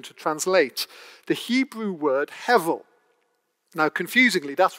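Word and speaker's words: הבל: translate the hebrew word hevel now confusingly that's written in english as you'll see on the sheets as if it has a b in the middle but you pronounce it with a v hevel and this word hevel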